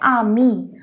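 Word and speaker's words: amis: तो जो पहला एग्जांपल है आमी, आमी, इसमें S साइलेंट है।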